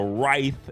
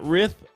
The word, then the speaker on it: writhe: So Writhe is how you say it, not Rith, it's Writhe.